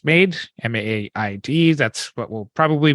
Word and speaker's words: MAiD: medical assistance and death the acronym for this is pronounced made maaid that's what we'll